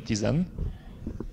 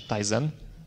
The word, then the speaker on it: Tizen: Szanowni Państwo, Piotr przed chwilą Państwa zaprosił do udziału, współudziału rozwoju platformy Tizen, czy Tizen, w zależności od tego, po której stronie oceanu się wymawia tę nazwę, przedstawiając alternatywę, przedstawiając możliwość kontrybucji do projektu open source'owej.